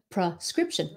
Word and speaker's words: prescription: So it's pra. Prescription. Prescription. Sometimes because we say it quickly, it sounds like pra, even though you're saying pre.